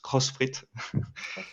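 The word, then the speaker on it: Xfit: is called which is written x-fit but pronounced crossfit and in that case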